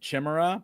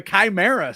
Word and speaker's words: Chimera: I decided we're calling him Chimra because everybody's got to say it wrong like me.